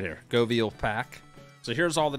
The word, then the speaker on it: Göweil: uh the new DLC the goviel that's how you pronounce It Go veal so pretend that W's like a V like Vanessa goviel but